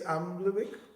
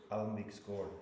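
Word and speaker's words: Almviks gård: And how do I pronounce the place? Almivik? Almvik's Gord. Almivik? Almvik's Gord. Almvik's Gord. Thank you. Or guard. Or guard. In Sweden. Because we have an A With the two dots on it.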